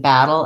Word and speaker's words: battle: The main difference between battle and bottle is that battle has the black cat vowel and bottle has the not hot vowel. So interestingly, this one sounds like ah, even though it's spelled with letter O, and this one sounds like ah for the letter A.